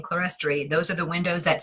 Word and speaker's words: clerestory: For example, there's a word that is pronounced two ways, clerestory or clerestory. I was raised saying clerestory.